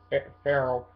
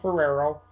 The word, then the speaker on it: Ferrero: have uh Martin yeah I always say the name wrong I say Martin phell but it's Martin f o Martin Ferrero who plays uh Donald